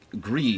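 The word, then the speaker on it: Gris: Like, Grease is one of those... Gree, excuse me, I gotta pronounce that correctly.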